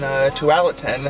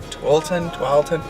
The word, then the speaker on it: Tualatin: Haley and I are filming a show in Tualatin, I think is how you say it, Tualatin, at a brewery there.